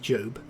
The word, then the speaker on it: Job: in the Bible called job or job it's it's spelled job but called called job talks about a man who had all these